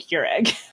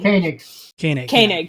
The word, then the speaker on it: Koenig: I keep wanting to call him Agent Keurig. Like the coffee machine. Koenig. Yeah. Like Walter Koenig, the Star Trek actor.